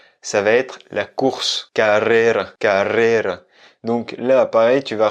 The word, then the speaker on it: carrera: parce qu'on va plus accentuer un double R. Il va être un peu plus long, un peu plus roulé que le R simple qui vient juste après. Donc, carrera.